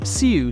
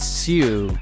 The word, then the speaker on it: siu: Es como sí. U. No, pero sí. Pero es sí. ¿Entiendes? Pero sí con U. Sí, como diciendo lo ha hecho, como sí. Pero hay una U ahí.